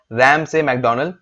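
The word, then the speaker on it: Ramsay MacDonald: यही अपनी बात को दिखाते दिखाते एक इंसान और आ जाता है, उनका नाम होता है राम से मैकडोनल्ड। अब इनका प्रोनाउंसिएशन शायद गलत है, रैम से मैकडोनल्ड इनका नाम है।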